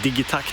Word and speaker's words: Digitakt: really love it or the dig attack as it's pronounced the Swedish in just a clarification